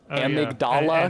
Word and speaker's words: Amygdala: Like how in Bloodborne, he is an apocalypse cultist for Amygdala, because that's how they pronounce that.